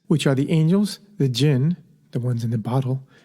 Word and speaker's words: jinn: of sentient beings which are the angels the jinn the ones in the bottle and humans so